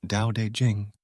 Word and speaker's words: Tao Te Ching: translated by Stephen Mitchell Tau Te Ching pronounced more or less Dao de Jing can be translated as